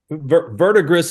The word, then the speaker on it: Verdigris: Verdigris is the French pronunciation, and I think the correct pronunciation, verdigris, is what Grandpa says. So either is acceptable.